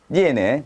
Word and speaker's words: 鑷: 똑같이 발음이 니에네.